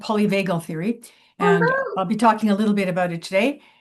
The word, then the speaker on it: polyvagal: teachings, and polyvagal theory, which the accent is on polyvagal.